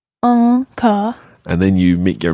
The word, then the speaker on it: encore: Yeah, the first one is en, so that your chin is sticking out, if you like. Encore. Encore.